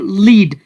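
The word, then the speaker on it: lead: तो यहां पर इसकी प्रोनाउंसिएशन है यानी लीड और यहां पर जो दूसरा वर्ड आपको नजर आ रहा है इसको कहा जाता है लेड।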